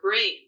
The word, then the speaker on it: Brain: up on the River Brain. And that's an ancient Anglo-Saxon word. It sounds funny. It's spelled B-R-A-I-N.